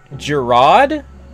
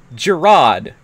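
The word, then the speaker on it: Jerrod: the first time also his name has never been spoken out loud in any of the games until this one uh and it was pronounced King Gerard in Defenders of the realm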